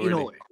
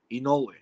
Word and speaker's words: Inoue: You know that's the proper pronunciation is like saying E and saying no way. So Inoue. Really? Inoue. Yeah, and the accent goes on the no, Inoue.